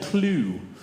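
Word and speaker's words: clew: In ancient Greek, a ball of thread is called a clue. It's spelled cl ew.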